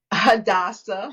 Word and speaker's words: Hadassah: Um, what sets Hadassah, or how do you say it? How do you say it? Hadassah.